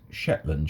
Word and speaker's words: Zetland: Apparently Taviot, those of you that are Scottish would know that Taviot would be pronounced as Teviot, and Zetland Street is Shetland Street.